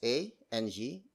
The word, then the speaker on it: ang: And then it is followed up by the word ang. Spelled as A-N-G, it means Z, the article Z.